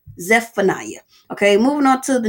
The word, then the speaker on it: Zephaniah: thing most people say zacharia zacharia but it's zephaniah you have the z EP in there zephaniah okay moving on to